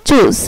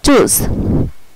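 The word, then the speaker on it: tschüss: আচ্ছা, পরে হচ্ছে যদি কোনো ওয়ার্ডে TSCH একসাথে থাকে তাহলে এটার উচ্চারণ হবে চয়ের মতো। যদি কোনো ওয়ার্ডে TSCH একসাথে থাকে তাহলে এটার উচ্চারণ হবে চয়ের মতো। এই যেমন TSCH ইউমলাউট ডাবল এস, চুজ, এই যে TSCH এই ফুলটার উচ্চারণ হয়েছে চয়ের মতো, এই যে চুজ।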